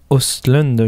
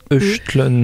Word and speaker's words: Östlund: D'ailleurs, le O avec des trémas au-dessus, je dirais plutôt que ça se prononce Östlund, mais je ne suis pas spécialiste des pays scandinaves.